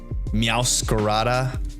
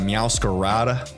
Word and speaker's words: Meowscarada: Having the dark fire incineroar, dark grass, or fire dark, grass dark, meowscarada, as I would try to properly pronounce it, instead of meowscarada. the gringo way.